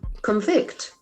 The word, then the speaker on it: convict: guilty of a crime if it is a verb the accent falls in the second syllable convict convict convict convict Now